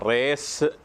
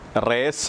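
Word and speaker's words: Resh: 20 letter ആണ് ഇരുപതാമത്തെ letter ഇതിൻറെ പേര് ഇതാണ് റേസ് എന്നാണ് അതിന്റെ പേര് ആർ ഇ എസ് എച്ച് റേസ് എന്നാണ് ഈ ലെറ്ററിന്റെ പേര് റേസ് എന്ന സിറിയക്ക് വാക്കിന്റെ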